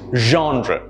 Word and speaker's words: genre: the correct pronunciation is genre notice how the stress is on john and the rear is softer genre my favorite genre of